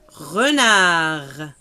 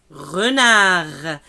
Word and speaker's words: renard: Renard. Renard. Là encore, vous avez remarqué la lettre D, on ne l'a pas prononcée.